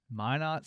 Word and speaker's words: Minot: University where I graduated what's that called uh Minot State University why not yep how do you spell that am i n o t Minot State University shout out Minot why Matt my